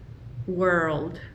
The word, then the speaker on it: world: Word, word, y world. Word, word, world. Word, world, world. Esa R-L, un poco difícil de pronunciar. World.